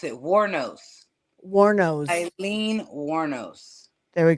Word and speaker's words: Wuornos: It's crazy to me that, that it kind Oh, of I know sounds how to pronounce it. Warnos.